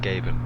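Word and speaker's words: géibheann: oh gab G yeah you wouldn't think that's pronounced gabin would you g e g e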